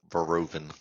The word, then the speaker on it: Verhoeven: That's be pronounced Verhoeven. Verhoeven? Did you really? Damn. Suck on that bitch. What? So how do you know this? Because the H is silent in that.